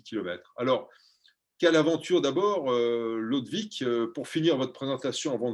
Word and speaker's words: Lodewijk: J'ai toujours envie de dire Ludwig, mais c'est Lodvik Allaert, si je prononce bien.